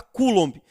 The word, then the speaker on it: coulomb: Se escreve coulomb, mas se fala coulomb.